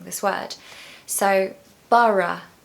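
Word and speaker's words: Borough: where to start with pronouncing this word so Bara Bara two syllables and Bara Market is absolutely amazing it's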